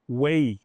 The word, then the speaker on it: weigh: Então, how much does it weigh? Olha o som. Way.